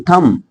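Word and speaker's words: thumb: B silent रहेगा जैसे इसको थंब नहीं बोलेंगे थम थम अच्छा एक चीज और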